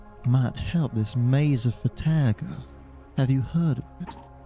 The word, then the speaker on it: Farrahdor: it is pronounced the Maze of Farrahdor.